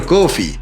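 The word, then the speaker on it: Coffey: de Kink, el gigante John Coffee, como la bebida. Pero no se escribe igual.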